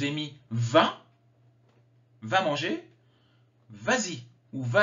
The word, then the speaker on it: vas-y: me vint va manger vas-y ou va à l'école je ne mets pas de s vas-y je rajoute le s pour la prononciation mange mange du chocolat